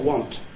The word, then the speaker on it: want: West English-speaking world who says want for want. So there you are. Rhymes with front, you see.